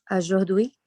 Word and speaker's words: aujourd'hui: Aqui você viu que a palavra tem a U, você vai já pronunciar com som de O com circunflexo, tá bom?